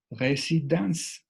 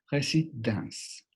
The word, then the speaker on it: résidence: Por ejemplo, desde el título, résidence, la E final no tiene sonido.